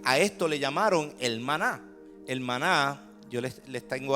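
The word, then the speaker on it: מָן: Así que en el original, cuando uno lee el maná, se pronuncia man.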